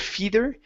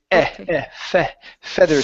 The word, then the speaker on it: feather: This is going to be a short E sound instead of feather. It's feather stick.